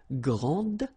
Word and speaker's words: grande: And regarding the feminine form, you will pronounce it grande. Okay, don't insist on the final but then pronounce this D, grande, and then exactly the same pronunciation, grande.